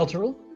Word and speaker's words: Elturel: How's that pronounced? I can never remember. Elturel?